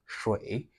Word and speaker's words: 水: So when you say the shui, the SH there requires you to curl your tongue back before you pronounce it, like this.